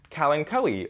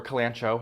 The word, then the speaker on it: kalanchoe: selection let's discuss next this kalinkowi or kalanchoe however you would like to pronounce it uh this is